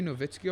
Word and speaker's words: Nowitzki: team dirk nowitzki i it's spelled nowitzki but like people say novitskiy all the time did dirk